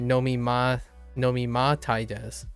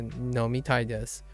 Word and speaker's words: 飲みたいです: Like I keep trying to say nomima tai desu as opposed to nomitai desu.